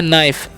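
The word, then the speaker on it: knife: है ध्यान से समझेगा के एन आई ए लिखा हुआ है क्या लिखा हुआ है के एन आ तो य पर के साइलेंट होता है इसलिए हम से पढ़ते हैं नाइफ क्या पढ़ते हैं नाइफ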